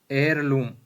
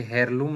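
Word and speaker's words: heirloom: उसके बाद में इट इज एयरलूम, ये हेयरलूम नहीं है, एयरलूम ऑफ फैमिली। तो एयरलूम है तो क्या आएगा, एच साइलेंट है इसमें, एच क्या है, साइलेंट है, तो एन आएगा इसमें।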